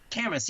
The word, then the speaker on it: Camas: How do we pronounce it? Camas. Camas, yeah, you said it right.